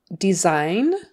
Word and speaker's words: design: Okay, moving on, we have the word design. Design. The S in the middle is a Z sound.